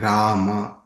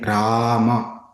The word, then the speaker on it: Rama: The short in Hare Krishna and Rama is closed, like in but. The long in Rama is open, like in far.